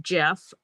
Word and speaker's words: Geoff: But it is pronounced Jeff, same as the J name.